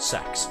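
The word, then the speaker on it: CeX: But the advertising campaign from a couple years back um outright said it's pronounced sex because that was how they did the advertising for it.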